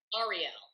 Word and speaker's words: Arielle: it's your name Ariel is that how you pronounce Ariel Ariel okay yes and Beth it's pleasure to meet